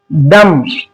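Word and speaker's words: dumb: इसको पढ़ना है दम। ये था रूल बी। देखा आपने किस तरीके से बी को हमने साइलेंट किया।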